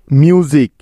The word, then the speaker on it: music: পরে একটা ভাওয়েল থাকলে ওই মাঝের এস এর উচ্চারণটা জ এর মতো উচ্চারিত হবে। ঠিক আছে? যেমন দেখো, মিউজিক, MUSIC, মিউজিক।